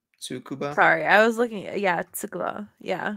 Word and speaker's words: Tsukuba: available from the Nurburgring to tsukuba can I pronounce that right sukuba tsukuba sorry I was looking yeah it's a glow